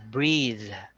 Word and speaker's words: breathe: one is breathe so the last sound is like a a d with a a soft D sound but if you take the e at the end of the word so it's just breath okay so but if it has an e at the at the end you say breathe so the the the